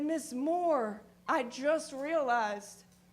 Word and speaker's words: Moore: and she said Miss Moore I just realized your name rhymes with boar and I said well